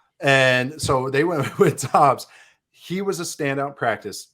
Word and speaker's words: Doubs: I always want to say Romeo Doubs, but apparently it's Dobbs, how you pronounce it. I've heard 3 different enunciations for it. So I think it is Dobbs. They threw the U in there just to confuse everyone.